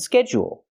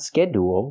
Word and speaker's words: schedule: And schedule. Not schedule, but schedule. So again, the word is procedures, not procedures, and not procedures, it's procedures.